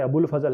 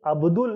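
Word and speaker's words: अबुल फ़ज़ल: ने, जो अब हमारे अबुल फजल है, ये ध्यान रखिएगा, ये अब्दुल नहीं है। नॉर्मली आप अब्दुल नाम सुनते हैं, ये अब्दुल नहीं है, ये केवल अबुल फजल है। अबुल फजल बेसिकली इनको जो प्रोनाउंस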